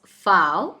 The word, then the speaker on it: V: Now V is actually called as fow. So next alphabet is W, which is pronounced as way.